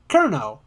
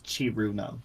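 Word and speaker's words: Cirno: powerful Trixie or the quote-unquote strongest ice fairy kerno kerno how do I say it sir no sir no whatever uh there's a lot of pronunciations people use but at the proper one is chiruno chiruna okay or the iceberg that's a cheater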